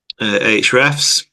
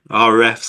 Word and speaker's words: Ahrefs: Um, so we've used um, Hrefs, however you want to, RFs Yeah, or Hrefs, however you RFs. want to Yeah, pronounce it.